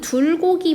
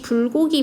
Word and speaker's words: 불고기: 지금 외국인 학생이 불고기를 발음을 해야 하는데, 즉 불고기는 두 입술의 파열음 좋은 방법을 통해서 만드는 소리인데, 이걸 들고기나 눌고기나 굴고기로 지금 착각하고 있는 상황입니다.